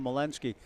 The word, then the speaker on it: Malinsky: I went down to the dugout, asked the coach, oh, it's Skylar Malinsky. The program says Mineski.